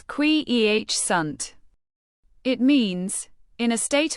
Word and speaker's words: quiescent: Quiescent. Pronounce it as kwee-eh-sunt.